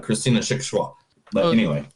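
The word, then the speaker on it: Schwochow: It's Christian Shachwa. Oh, it's not Christian Shawashow. But it's harder, though. It's harder because this is a German word, so it's Shachwa. Like, it's like that.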